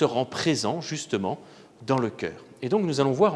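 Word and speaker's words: chœur: et puis il ya ce qu'on appelle le coeur le coeur qui s'écrit ch a eu dans l'eau huerre qui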